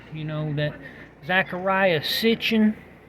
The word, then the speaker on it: Sitchin: know that Zachariah is sitching I've been saying his name stitching I like to say Stitch you know I know I'm pronouncing it wrong but see his name